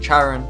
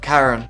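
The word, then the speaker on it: Charon: now through this video I am going to pronounce it the hand of Charan but in America I think it's the hand of Karen and in Greek it's the hand of Haron but I'm from Australia and we typically follow the British way of pronouncing words I have to simply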